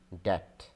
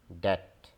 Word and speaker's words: debt: so we must know that be in this is silent it is debt debt debt this word is also quite often mispronounced